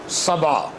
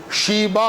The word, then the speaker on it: سبا: وہ سورہ سبا ہے۔ سبا، سین بے الف، سبا۔ بائبل میں بھی اس کا ذکر موجود ہے، فرق اتنا ہے کہ وہاں تلفظ اس کا شیبا ہے، یہاں سین ہے، وہاں بڑی شین ہے۔ زبانوں کے فرق سے